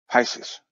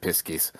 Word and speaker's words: Pisces: that would be something Pisces Pisces I'm sorry I pronounce it piskies the um the the